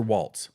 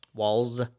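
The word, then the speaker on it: Walz: uh uh Tim Walls is it walls or Waltz walls walls okay that's I've heard it pronounced both ways so Tim Walls is the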